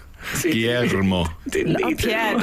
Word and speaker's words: Guillermo: Guillermo. I would have said that. Guillermo. What happens at the ear? Where is that going? L sound or R? Rolled R to an L. Rolled R? Guillermo.